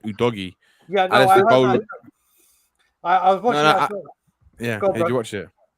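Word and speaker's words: Udogie: abuja yeah like you know it's not a douje brand you know it's actually pronounced udogi yeah did you watch it yeah i watched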